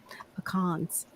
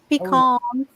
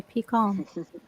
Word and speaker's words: pecan: So nice with those pecans. Pecans. Yes, that's how you say it. Let's all have a lesson, even for the Yankees watching. It is a pecan. Not no pecan.